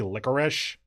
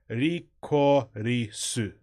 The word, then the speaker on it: Lycoris: I can read the katakana enough that it seems like it should be licorice. Like, I have the poster here. Rikorisu. Rikoiru. Yeah, Rikorisu. Licorice, basically. And actually, episode 2 is